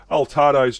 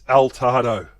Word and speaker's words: Altado: Altarado's jumped in with um Decoy. I know we've had a few pronunciation issues, so I thought I'd clear the clear the pronunciation. It's not Altarado, Kiwi. It's Altado.